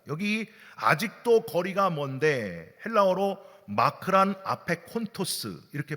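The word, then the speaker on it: μακρὰν ἀπέχοντος: 헬라어로 마크란 아페콘토스 이렇게 발음을 하거든요.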